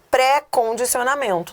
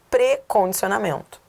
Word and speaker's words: precondicionamento: Por exemplo, as pessoas falam equivocadamente, elas falam pré-condicionamento. Não, não é pré-condicionamento. A pronúncia é átona. Precondicionamento.